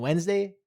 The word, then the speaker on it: Wednesday: And Wednesday has a hidden ninja d that no one even speaks about.